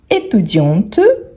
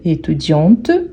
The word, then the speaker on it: étudiante: grave banquie le banquierre étudiante on prononce bien le T étudiante pour marquer le féminin le masculin étudi étudi